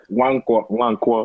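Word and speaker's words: Nwankwo: How do you say the first name? Wankwo.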